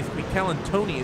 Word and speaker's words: Calantoni: Calantoni is how you pronounce that.